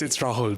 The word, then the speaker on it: Rahul: Am I pronouncing that right, Raoul? Yeah, you're right. Yeah, it's Rahul, but that's fine. So I was wrong. Thanks for sparing my feelings, but it was wrong.